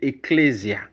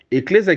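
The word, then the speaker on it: ἐκκλησία: c'est un mot c'est un mot grec qui est prononcé eclésia avec e double k e double k dou l e s i aclésia eclésia qui signifie mise en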